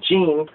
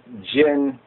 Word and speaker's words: jinn: it has the Gin I thought it was Gene but it has it as uh let's say like um Jin like this like Jin j i and a short a short I sound not like the well